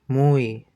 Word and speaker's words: muy: muy, muy, muy, It's more like muy.